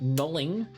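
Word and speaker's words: knolling: you like them this is a technique called knowling spelled with a k k-n-o-l-l-i-n-g and it's just a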